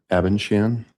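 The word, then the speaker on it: Abendschan: Um, my name is or Abenshan. Uh, last name is spelled A B E N D S C H A N.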